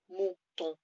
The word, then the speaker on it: mouton: Okay, and we have le mouton, the sheep. Again, it's a nasal sound at the end, and I'm just drawing some horns with my little fingers.